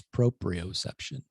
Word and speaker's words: proprioception: And I'm going to give you a little grace because you pronounced one of the words wrong. It's proprioception.